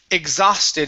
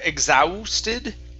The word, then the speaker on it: exhausted: okay much better uh this word here is pronounced exhausted instead of exhausted it's only an ah sound exhaust exhausted exhausted very